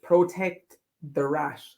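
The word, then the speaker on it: Protektorat: You have to say Protect the Rat. That's how you pronounce it. Protect the rat. Oh, yeah. Very fast. Yeah, so as if you're protecting a rat.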